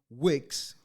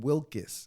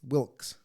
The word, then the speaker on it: Wilkes: on april 14 1865 john wicks not wick john wilkes wilkes i said it wrong the first timers wilkes both rode with